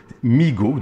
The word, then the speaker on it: MEGO: bien si tu te situes donc ça se prononce et mégots meego donc vont se prononcer m e geo mais